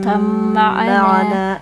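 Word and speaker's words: ارْكَبْ مَعَنَا: Untuk selanjutnya irkam ma'ana. Itu bacaan idgham mutaqarribain. Ba sukun bertemu mim. Cara membacanya didengungkan.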